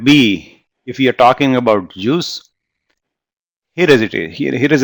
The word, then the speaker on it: JEOS: And by that, by the way, this word JEOS, people pronounce this as juice, like orange juice.